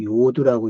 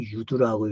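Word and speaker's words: יוד: 이제 우리가 73절에서 주의 손이라는 단어가 이제 야드인데, 그래서 이제 10번째 단어를 우리는 요두라고 읽습니다. 요두 또는 유두라고 읽는데, 그 손이 이제 어떤 일을 했느냐.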